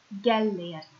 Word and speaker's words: Gellért: And Gellért is pronounced Gellért. Gellért.